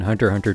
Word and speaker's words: Hunter x Hunter: issues next up is the x being silent again also self-explanatory all of the exes you see in hunter hunter titles or episode names are just silent you don't pronounce them this is because in universe the x is symbolic of a space next we have movies